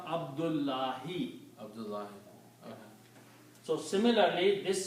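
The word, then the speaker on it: عبد الله: Why did you start with the the because you do not pronounce one dhamma. Okay. So you pronounce only Abdu. Okay. Abdul and here you pronounce Allahi. Oh okay. So this dhma will become kasra. And the whole sent means the whole sentence will become abdullah.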